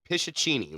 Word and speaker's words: Pishachini: It is the Pishachini. Like, just the way, for once, it's just the way it looks.